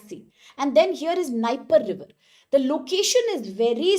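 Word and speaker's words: Dnieper: in this area called Niper River. D is silent here but Niper River.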